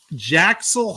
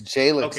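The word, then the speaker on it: Jalyx: Jaxel Hunt, I think that's how you say it. It's Jalix, I believe. Yeah. I was way off on that one. Jalix Hunt, okay?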